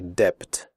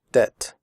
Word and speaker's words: debt: traded fitted noted that in the word debt the B is silent we do not say depth we say debt comfortable the word comfortable